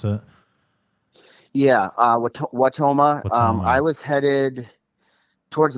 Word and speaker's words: Wautoma: Is that how you pronounce it? Yeah, Wautoma.